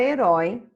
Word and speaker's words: herói: vamo zika lá na página 27 a palavra herói tem a mesma regra de acentuação de vamos